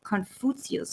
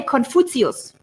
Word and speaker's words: Confucius: We say Confucius. This is the German pronunciation. I love it. Confucius. Sounds like, take your foot over there. Confucius.